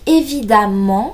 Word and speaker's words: évidemment: Donc évidemment s'écrit E-2-M-E-N-T. On a vu tout à l'heure que le E, lorsqu'il était suivi d'une double consonne, souvent le M, se prononçait A.